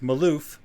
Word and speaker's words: Malouf: Today we're going to be interviewing Amy and Jake Malouf. Is that how you guys pronounce it?